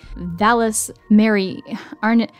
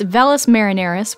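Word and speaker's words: Valles Marineris: ice caps and some notable features are the Valles Mary aren't I should have looked up the pronunciation before hold on okay I feel stupid now it's velas marineris which is one of the largest canyons in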